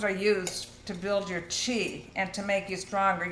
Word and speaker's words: qi: In Chinese medicine, mushrooms are used to build your qi and to make you stronger. Your qi, it's spelled QI but pronounced CHI.